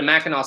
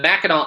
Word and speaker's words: Mackinac: So if you pronounce it, it's Mackinac, but it's actually Mackinac. And people who live there always say they know when there's a tourist because they go, we're here on Mackinac Island.